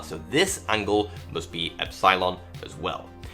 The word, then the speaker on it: epsilon: Well, call the top one epsilon, Yes, that's how many of us Brits pronounce it.